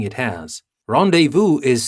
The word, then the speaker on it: rendezvous: for our next word rendezvous and you can see that i'm trying to pronounce it in a french way because it is a french word and you will know